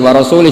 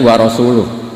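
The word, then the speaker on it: وَرَسُولُهُ: Allah itu terbebas, gak urusan dengan orang musyrik, wa rasulih juga gak ngurus Rasulnya. Kalau sama Rasul saja tidak ngurus apalagi sama kita. Sama Sayyidina Ali dibenarkan, yang benar bacanya itu wa rasuluh, Allah bari minal musyrikin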